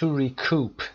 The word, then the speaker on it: recoup: To recoup تلفظ دقت داشته باشی. استرس در قسمت دوم و کوپ او کشیده هست.